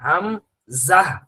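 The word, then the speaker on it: همزة: সেই ঝাটা দিয়ে হলো হামজা এর উচ্চারণ হয় হাম জাহ, হাম জাহ। কেউ যদি হাম জাহ বলেন তাহলে এটা ওই জিমের উচ্চারণ হয় যা, জিমের উচ্চারণ যা আর জায়ের উচ্চারণ যা, হামজাহ হামজাহ, এটা হলো সঠিক।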